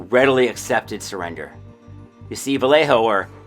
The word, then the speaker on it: Vallejo: You see, Vallejo, or Valley Joe, as it is pronounced by himself and the city by that name, was an Anglophile.